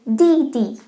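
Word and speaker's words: 弟弟: And younger brother is Didi.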